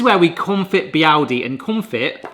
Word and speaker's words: confit: This is where we confit biyaldi, and confit is actually pronounced confit, which basically means to preserve.